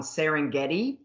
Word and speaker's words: Serengeti: hates the fact that they slip in the extra syllable on serengeti and so if you